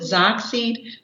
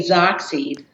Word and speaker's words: XOXY: you can ask your partner um let me pronounce it Zack seed but it is X 0 X Y but if you wanted to use it as a verb you can say Zack seed um and then that way you know boy